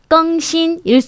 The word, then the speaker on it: 更新: 그러니까 발음하실 때 또 유의하실 게更新할 때 껑은요 일성으로 읽어줍니다. 우리가 부사로 훨씬 뭐뭐뭐 하다라고 할 때는 사성으로 껑이라고 읽죠. 하지만 요거를 혁신하다, 새롭게 바꾸다라고 할 때는 껑신, 일성 발음해 주셔야 하고요.